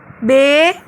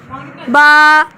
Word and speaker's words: با: تلفظ سے پرہیز کریں، یعنی بے، تے، سے، ہے، خے، توئیں، زوئیں وغیرہ ہرگز نہ پڑھیں، بلکہ عربی لہجے میں با، تا، ثا، حا، خا، طا، ظا پڑھیں۔ ان 29 حروف میں